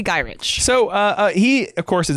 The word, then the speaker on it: Gyrich: Now, Sam was later recruited by Henry Peter I've heard Gingrich and Gyrich. How do you say that? I would say Gyrich.